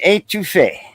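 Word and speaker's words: étouffée: Crawfish A-2-Fay. Oh, what is the A-2-Fay? A-2-Fay, but I spell it like that because in French, if you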